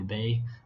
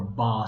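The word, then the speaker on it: 八: And she talks about how the pronunciation for the word 8 or ba sounds like the word fa, which is the first character in the words of fazan, development, and fakai, to become wealthy.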